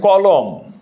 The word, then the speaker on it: কলম: যেমন দেখো কলম, এখানে একটা অ আছে, ক এর সাথে অ, ক, এই যে অটা উচ্চারণ করতেছি, কটা উচ্চারণ করো? ক। এই ক এর সাথে একটা অ উচ্চারণ আছে, এই অটা হচ্ছে তোমার, এই জন্য এখানে এখানে কি হচ্ছে? ওকার হয়ে যাচ্ছে।